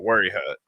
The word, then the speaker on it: Wayahutta: It's a place called Wayahutta. Wayahutta. But like locals have called it everything under the moon. Like, yeah. We always called it Worry Hut, but it's spelled Wayahutta.